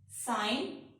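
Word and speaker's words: sign: अगर जी के बाद एन आता है तो जी साइलेंट हो जाता है। साइन, रिजाइन, डिजाइन, rain.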